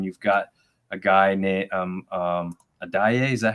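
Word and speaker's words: Adeyi: So that was interesting when you've got a guy named Adaye. Is that how you pronounce his name?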